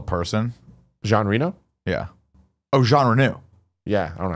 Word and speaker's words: Jean Reno: I think that there's issues with Onimusha because of the likeness of Gene Reno in Onimusha 3. Okay. And is that based on a real person? Jean Reno? Yeah. Oh, Jean Reno.